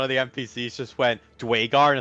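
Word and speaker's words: Duergar: I got the Durgar on my side. Come on, How do let's you know, it's actually Dwagar.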